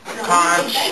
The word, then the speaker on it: conch: how do you say con con or conch no it's not c h it's it's con it's con how do you say conch or